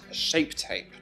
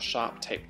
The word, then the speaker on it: Shape Tape: is the sharp - oh it's always say it wrong it's that Tarte shape tape not sharp tape name the touch shape